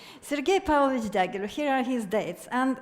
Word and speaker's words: Sergei Pavlovich Diaghilev: So, Sergei Pavlovich Diaghilev. One thing is in my favor is that I'm Russian, so I can pronounce it correctly. Sergei Pavlovich Diaghilev, here are his dates,